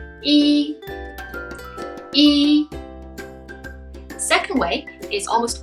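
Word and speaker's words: 一: The first one is the most commonly used one, which is yi, yi, yi.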